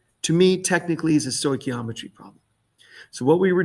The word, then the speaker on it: stoichiometry: equations to do true stoichiometry problems now the first thing is i want to make sure you know how to pronounce this word stoy key all right ometry stoichiometry now technically all right